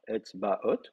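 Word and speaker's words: אצבעות: Et le pluriel de Etzba, c'est Etzbaot. Donc vous mettez une finale haute, très bien, qui va prendre l'accent. Le A va se retrouver en syllabe ouverte plutôt que fermée, donc on va passer au kamet.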